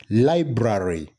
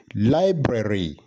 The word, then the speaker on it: library: Well, many people would pronounce it as library, but then the correct pronunciation is library. Library. It is not brary, but library.